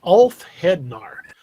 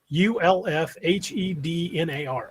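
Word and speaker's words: ulfhednar: elf in our sorry didn't know it's the alf hednar u l f h e d n a r ulf hednar uh he says i don't know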